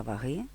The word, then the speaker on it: ваги: другому складі Ви молодці адже в українській мові пристрій для визначення маси тіла з використанням ефекту притягання тіла до Землі називається ваги а не ваги тому правильно казати щоранку